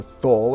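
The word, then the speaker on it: Thule: There was even a famous crash of a B-52 near what was called Tully Air Base at the time, or Thull, if you want to pronounce it exactly as it's spelled, but it's been renamed and no longer an Air Force base.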